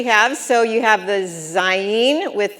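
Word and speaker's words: זין: Then you're going to have the word Zayin. So this is a Yud. It says E, and this is the final Nun, which is going to say N. So you're going to say Zayin.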